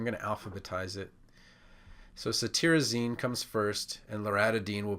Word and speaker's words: cetirizine: The cetirizine, it's spelled T-I-R, but you pronounce it T-E-A-R. So cetirizine, you can think of the tearing from allergy eyes as a way to remember this one.